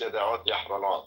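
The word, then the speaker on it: ידיעות אחרונות: Daniel, no, I assure you, it's Yada'ot Yahranot. If you can't pronounce it, that doesn't mean it changed. It simply means you failed to pronounce the Semitic letters because you're not a Semite.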